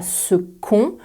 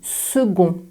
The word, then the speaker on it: second: second tu entends que le c est prononcé comme un gueux pas comme un que on ne dit pas ce con on dit second tu retrouveras la même